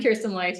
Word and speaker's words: Kirsten Leute: Yeah, so I'm Kirsten Leute.